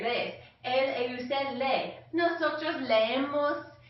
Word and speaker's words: lees: Okay, yo leo, tú lees. Hay que practicar esta pronunciación. Lees. There's two E's in there, lees.